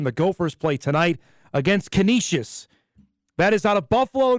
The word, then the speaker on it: Canisius: any pronunciations on it it's not kinesius it's Canisius make sure uh if you're